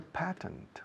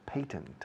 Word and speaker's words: patent: He's a patent or patent. Hay dos pronunciaciones para patentes.